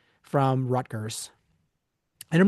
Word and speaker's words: Rutgers: Well, here's the thing: is it so it is spelled Rutgers, Rutgers. But if you talk to anybody from New Jersey and ask them to pronounce it, they pronounce it Ruckers.